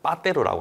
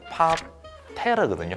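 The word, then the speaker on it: 파테르: 빠테로라고 하는 게 있는데요. 정확한 발음은 파테라거든요. 그 테라라는 게 맥주 이름처럼 땅이라는 뜻이거든요.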